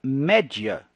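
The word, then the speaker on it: media: ué e na verdade em latim a palavra média que inglês não se pronuncia mídia daí veio na verdade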